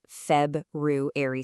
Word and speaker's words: February: We've got February with that Feb-ru-airy sound, and August with that strong August at the beginning.